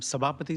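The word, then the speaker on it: Sabapathy: I am Sabapati and I live in 57.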